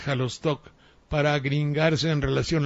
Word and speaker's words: Xalostoc: de verde seo saldaña hay locutores que pronuncian xalostoc xalostoc en lugar de halo stock para green garse en